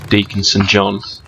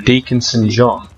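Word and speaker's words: Deacon St. John: Right, okay, basically, this guy called Deaconson John. Now, here's something. Deaconson John rhymes with Days Gone.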